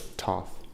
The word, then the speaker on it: Thoth: And I've usually heard it pronounced with a hard T at the end.